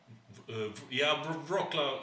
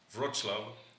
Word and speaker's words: Wrocław: And then we pronounce it Wrocław? Wrocław. Yeah, Wrocław would be the incorrect way. It has this little L that has a dash through it, which is a W.